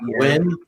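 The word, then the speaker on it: WEN: yeah, I guess it's supposed to be pronounced Win.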